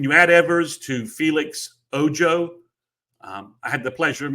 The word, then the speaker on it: Ojo: know that Felix, his last name would be pronounced Ojo.